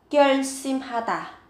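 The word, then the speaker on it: 결심하다: Kyeonsimhata, các bạn có từ kyeonsim, cần chú ý về cách phát âm, gấp đôi phụ âm sờ lên ở cái âm tiết thứ hai.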